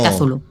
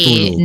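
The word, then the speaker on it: Cthulhu: Se pronuncia Kazulu, ¿no? No, a ver, Nova Blanca dice Tulu.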